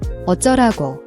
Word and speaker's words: 어쩌라고: The jo is a tense JJ sound. It's stronger than a regular J. Practice making a sharp, almost popping J sound.